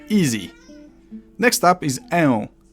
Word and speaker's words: ę: Next up is ę. Similarly to how a had a variant o, e has a variant ę. You take that e and you drag it a little bit.